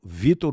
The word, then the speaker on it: Victor: É, tem um C que não se pronuncia. Eu eu eu me digo e me chamo Vittor, mas escreve com C.